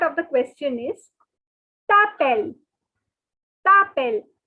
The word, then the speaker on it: t'appelles: T'appelles. So now the S is silent. Guys, S is silent. So it is t'appelles.